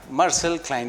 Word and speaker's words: Marczell Klein: Marczell Klein is well pronounced?